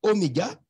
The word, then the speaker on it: oméga: entre au micro et Oméga les deux se prononcent la même façon au micro se prononce